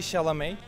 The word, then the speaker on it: Chalamet: nice nice timati chalmette chalmette nice one timothy shalamay very good timothy chalamet the first one to